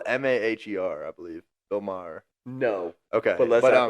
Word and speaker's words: Maher: Bill Maher. Maher? Yeah, I believe that's how you say it. It's spelled Maher, I believe. Bill Maher.